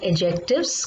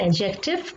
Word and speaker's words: adjective: Now, in today's video, we will discuss about adjectives comparison. That is your chapter number 9. What do you mean by an adjective comparison? We do not say adjective. Always remember D is silent. So we say adjective.